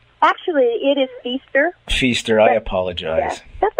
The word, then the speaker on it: Fiester: Am I pronouncing your last name correctly? Actually, it is Fiester.